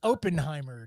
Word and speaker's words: Oppenheimer: He's the character from that movie called Oppenheimer, Tim. I believe it's pronounced Oppenheimer.